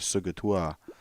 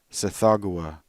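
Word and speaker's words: Tsathoggua: that the devotees of Sugatoa were as alien to humankind as sorry that's not how that's pronounced. Sithagua is how that's pronounced.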